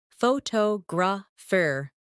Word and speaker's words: photographer: For example, photograph, photographer, and photographic. The stress moves and that changes the sound.